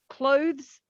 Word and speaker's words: clothes: It's not pronounced, meaning it's not strong. So clothes, um, but Yes, what this you is will one of the find is pronunciations.